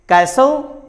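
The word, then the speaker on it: castle: Letter T से पहले अगर एस हो और उसके बाद एल और ई आ जाए तो लेटर टी साइलेंट होता है. कैसल, हसल.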